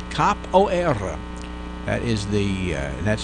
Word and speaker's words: capoeira: that is the that's I'm saying that with the Portuguese roll at the end of it there just because that's what the people at the pronunciation place said to do anyway now you know